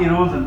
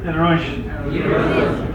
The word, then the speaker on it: erosion: This is not erosion, this is erosion.